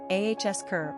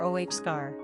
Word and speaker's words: Oscar: Pronunciation, ahsker or ohskar.